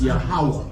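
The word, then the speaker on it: Yahuwah: Dang, how you pronounce it? Yahweh. You close. No? You close. Please. It's Yahweh.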